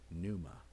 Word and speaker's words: pneuma: the last few weeks pneuma with a silent p breath in some instances